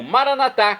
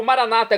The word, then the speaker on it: Maranata: e agora eu clamo maranat como dizemos nós católicos ou Maranata como dizem nossos irmãos separados os evangélicos ou protestantes não importa pronúncia o significado é o